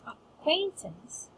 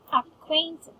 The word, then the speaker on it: acquaintance: Now, for acquaintance, we do have 2 syllables stressed in this. It's ac and quain. Acquaintance. Acquaint. Yeah, acquaintance. Right? Again, acquaintance. There. So we do have 2 stress syllables in this word.